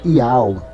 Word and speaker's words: YHWH: O Re é mudo. É o YHWH, o H é mudo, então é pronunciado Iau.